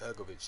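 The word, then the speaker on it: Hrgović: Yeah, Hrgovic, is that how you pronounce it? Hrgovic, yeah.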